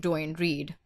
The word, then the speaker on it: Duane Reade: this like how could you not know the pronunciation of Duane Reade it's like I read like how else are